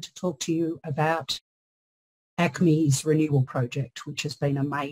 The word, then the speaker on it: ACMI: name I'm and I'm from ACMI or as we call it in Melbourne My pronouns are she